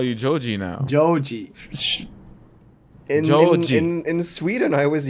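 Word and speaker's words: ジョージ: Joji.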